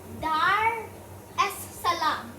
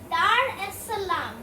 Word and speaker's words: Dar es Salaam: the most populated city in this country is dar es salaam if i'm pronouncing that correctly yeah dar es salaam with a population of about four and a